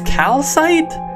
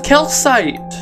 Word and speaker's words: calcite: another amethyst geo wait calcite is spelled with a c and an it's calcite i thought it was a kill site no what what it's